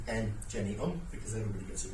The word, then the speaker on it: Engeneum: So, you pronounce my company name M Jenny because everybody gets it wrong.